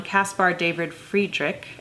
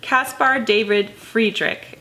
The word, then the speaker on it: Caspar David Friedrich: going to spend most of our time on Caspar David Friedrich and that is how you pronounce that I was pronouncing it incorrectly of